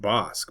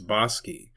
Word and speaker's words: Bosque: It looks like it could be pronounced Bosque, but it's Bosi.